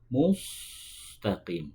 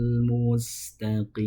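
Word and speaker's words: مستقيم: Yang terakhir itu ketika membunyikan mustaqim tidak boleh dibaca mustaqim tapi ditarik terlebih dahulu. Mustaqim. Ya. Karena sin itu tipis sedangkan shad itu huruf tebal. Kalau mustaqim itu huruf shad bukan huruf sin.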